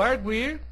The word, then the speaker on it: argui: como é o verbo arguir não é acentuado da mesma forma aqui ele argui fazendo a separação silábica seria arg I com este Gu pronunciado mais forte paraxitona terminada em I porém não é acentuado